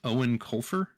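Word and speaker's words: Eoin Colfer: I had to look up how you pronounce the author's name because he is Irish, I believe. Yes. But it's Owen Colfer.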